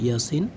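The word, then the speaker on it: يس: ইয়ার উপরে খারা জবর এক আলিফ মাদ হবে। ইয়াসিন, এর উপরে খারা জবর এক আলিফ মাদ, ঠিক আছে। আর সিনের উপর আমরা কি করব, চার আলিফ পরিমাণ টেনে পড়ব।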